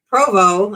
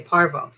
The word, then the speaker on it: Provo: Yeah, and then from Provo, I guess that's how you say it. I always want to say Parvo. It's P-O-V-O. P-R-O-V-O. I don't think it had an R in it, but maybe it does.